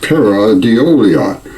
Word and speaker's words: pareidolia: There's even a word for this phenomenon, pareidolia, pronounced Paradeolia.